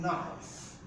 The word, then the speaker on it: knife: of a knight likewise in knife the letter k is also silent in the pronunciation of knives so this is what